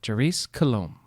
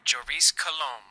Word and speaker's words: Joris Coulomb: Joris Coulomb. That's not how you say it. Joris Coulomb. Good morning, Joris Coulomb.